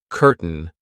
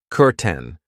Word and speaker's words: curtain: I know it looks like curtain, but we pronounce it curten.